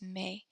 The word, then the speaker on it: mes: So to say my in French, we either use mon, ma, or mes.